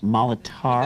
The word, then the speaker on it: Molitor: It's pronounced Molitor.